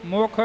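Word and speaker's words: ਮੈ: राख लिया अपना सेवको मुख निंदक शार। नानक भगत आनंद मैं इत्थे मैं उच्चारण करना बिंदी नाल उच्चारण नहीं करना।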